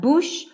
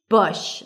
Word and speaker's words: bush: Beat around the bush, not bush, bush, lacks cook, look, book.